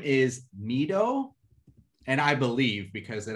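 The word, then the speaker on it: Mi-do: The girl's name is Mido.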